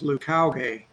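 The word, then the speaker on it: Leucauge: the meetings um that the best way to pronounce that is lucowgay which has really floored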